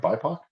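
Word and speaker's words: BIPOC: you tell us about that and the award pronouncing right bipac yes so the international thriller writers or itw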